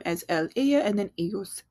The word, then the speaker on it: ellos: They, all males, ellos. They, all females, ellas. And it follows the same thing with that y sound for the double L.